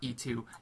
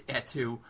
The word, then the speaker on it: et2: cine of et2 beastro it's pronounced etu people not E2 it's etu in historic Danville Pennsylvania